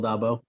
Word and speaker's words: Dolbow: uh you did say my name right dabo um i've just i went through aviator last